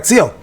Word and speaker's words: Seo: All right, Seo, or Saw, aka Saw. Apparently that's how you say it in Korean.